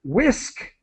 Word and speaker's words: whisk: And then in the word whisk, the H is silent. And so W. Whisk. Whisk.